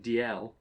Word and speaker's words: Dalziel: Hence, names like the Scottish name DL is spelt Dalziel because that's not a Z, that's a Yach.